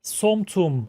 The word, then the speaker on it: som tum: to make green papaya salad recipe and its pronuncion in Thai is somtum I think this is alin's Kitchen YouTube channel